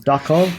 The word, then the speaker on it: Duckov: Escape from Duckov. You heard that correct. I have not mispronounced Tarkov, like I may have mispronounced something earlier.